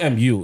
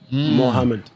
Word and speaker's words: Muhammad: feeling his name wrong it's not mu it's m o Muhammad Muhammad yeah I found out when I read about Muhammad Salah ah yeah it wasn't supposed to be moo yeah that's exactly what